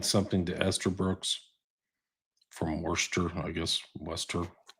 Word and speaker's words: Worcester: You could say worester. I got to get that worester. Yeah. Yeah. Yeah. Austin accent. I can't even do is how it's spelled, but it's Worcester or No, that's Gl.